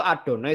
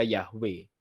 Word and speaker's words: YHWH: digandengkan dengan kata adonai yhwh nih baca benernya itu adonai sebenarnya Ada orang Yahudi membaca yhwh nih bacanya adonai jadi orang Yahudi tidak pernah membaca Yahweh tidak pernah yang baca